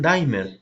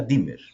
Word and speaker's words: dimmer: Algunos dicen dimer, pero yo recuerdo que se pronuncia dimmer. Pronúncienlo como se les pegue la gana, pero estrictamente en inglés es dimmer, no es dimer.